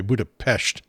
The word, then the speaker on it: Budapest: And by the way, Budapest is the proper pronunciation, the local pronunciation. You'll hear some folks say Budapest, some folks say Budapest. They prefer Budapest.